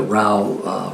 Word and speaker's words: Rao: though I know that Rao rhymes with Mao but as in miles